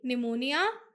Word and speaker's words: pneumonia: The next word will be pneumonia. In pneumonia, P is silent.